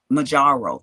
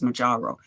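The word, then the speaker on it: Mounjaro: And Majaro, that's how you say it. It's Majaro.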